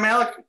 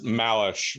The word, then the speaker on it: Malish: All in favor, Malik? Are we saying it right? Is everybody saying it? Because I heard Malish, Malik, hey, Malik. David, welcome. It's Malish, like it's an S-H at the end.